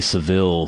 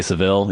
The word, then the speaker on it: Savile: I think you're supposed to say Savile, even though there's only one L. The British people I've heard say the name say Savile. They say Savile? Okay, I've heard Americans say Savile and British people, okay, I guess they're saying Savile.